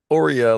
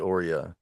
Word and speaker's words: AUREA: Aurelia, how do we pronounce that? Oreo, like Oreo cookie, but Oreo.